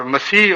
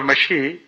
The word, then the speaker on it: مسیح: نے کہا مسیح ہوں۔ اور مسیح اور مشی یہ ایک ہی چیز کے دو تلفظ ہیں، اور بعد میں بھی